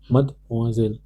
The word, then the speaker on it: mademoiselle: How do we pronounce it? Mademoiselle.